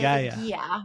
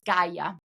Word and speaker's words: Gaia: Everyone says Gaia, but it's Gaia. Gaia. Gaia in Italian.